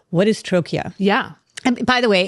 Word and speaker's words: Trochia: And it might be helpful, Kayleigh, for us to stop for a minute and say, what is Trochia? Yeah. And by the way, it's sort of pronounced like trachea.